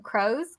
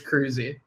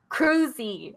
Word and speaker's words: Kroeze: you pronounce your laughing crows crows e crows be good about changing my name cuz nobody can pronounce my last name right but it's cruzi cruzi Oh like Tom Cruise creepy but I guess